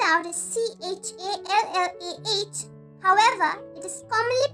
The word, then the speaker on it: challah: The next type of bread is spelled out as C-H-A-L-L-A-H.